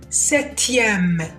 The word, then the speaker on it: septième: Exemple septième septième. هنا حرف البي هو الحرف الصامت، ما قلتش septième septième septième.